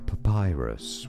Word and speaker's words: papyrus: Papyrus, with a stress on that pi syllable.